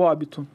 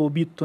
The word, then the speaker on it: Obito: destu gu é aí a gente vai pro óbito o Obito né Se a gente for falar na pronúncia certa o Obito ali ele viu a